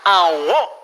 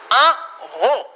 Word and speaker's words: en haut: Maintenant on a en haut. La T tampoco no se pronuncia. Pero la AU se pronuncia como una O. No lo pueden olvidar. En haut.